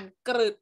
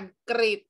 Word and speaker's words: กริช: ศาลา และ เป็น สอเสือ เรา จะ อ่าน เสียง ฤทธิ์ ทัน ที เช่น กริช กอ อิด ะห์ Dog กริช เรา ไม่ อ่าน เกิด นะ เรา อ่าน กริบ เขา ว่า ตัว ฤตา